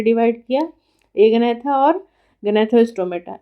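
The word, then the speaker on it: Agnatha: एक है ए गनैथा, ठीक है, प्रोनाउंसिएशन पे ध्यान रखिए, ए गनैथा।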